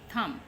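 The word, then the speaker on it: thumb: थम, थम कहते हैं हम, बी नहीं पढ़ते, थम बी साइलेंट है।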